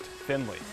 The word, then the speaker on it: Finlay: pronunciations go oh gosh it's spelled Finlay yeah but pronounced Finley correct that's correct you're